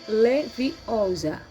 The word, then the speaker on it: Leviosa: Você está dizendo o feitiço errado. Harry ouviu Hermione corrigir, aborrecida. É Wingardium Leviosa. O gar é bem pronunciado longo.